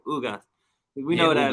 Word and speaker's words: Ugas: I want to make sure I'm saying it right, Ugas. We know that. Ugas, you said it right.